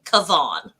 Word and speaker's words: Kavan: my name is kavan it's pronounced like yvonne but with a k in front and the e at the end is silent so kevon and if you must